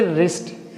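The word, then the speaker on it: wrist: रिस्ट। रिस्ट बोलेंगे। यहां पे डब्ल्यू को हम हम इग्नोर कर देंगे। उसको हम प्रोनाउंसिएट नहीं करेंगे।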